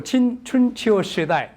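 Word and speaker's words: 春秋時代: 아니면 그냥 중국 발음으로 춘치오 시다이 이렇게 얘기하기도 하지만 스프링 오텀 피어리드 이렇게 얘기합니다.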